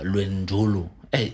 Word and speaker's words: Lwendulu: So I came across an article about uh Luendolu today.